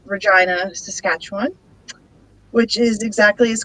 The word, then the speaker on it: Regina: in a place called regina saskatchewan which is exactly as cool as it sounds um you may have noticed that regina sounds like a certain word and uh there's actually